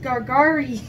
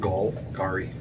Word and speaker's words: Golgari: My deck is a black-green Gargari deck. Try again. How do you pronounce it? Golgari.